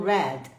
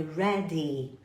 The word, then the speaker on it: ready: não é Red é Ready Quando você vê um Y até dar uma enfatizada aqui quando você ver um y no final as palavras serão pronunciadas com um e longo a pronúncia do Red